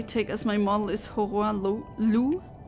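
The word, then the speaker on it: Hoarah Loux: model is hor L I assume that the that's a French name and um when it's French or pronounced in a French way then the x is silent just like it should be in real life right well I don't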